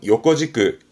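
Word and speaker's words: 横軸: 횡축소가 발음은 요꺼지끄, 요꺼지끄. 다떼지끄는 세로축이고 요꺼지끄는 가로축을 말하게 됩니다.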